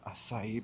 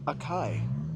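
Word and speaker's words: açaí: Oh, I should have got a asai bowl. I've only recently started pronouncing it asai after years of saying in my head mostly akai.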